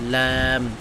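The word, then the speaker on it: ل: এটা একটা পাতলা উচ্চারণ, ক্যাপ ক্যাপ। ওকে, তারপরে হলো ল্যাম, 8 নম্বর মাখরাজ।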